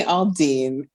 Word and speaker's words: Aldine: I mispronounced your last name could you please pronounce it for me once more it's it's Aline Aline it's not comp you said